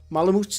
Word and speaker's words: Malamute: Malamutes is how you say it, and they are both quite...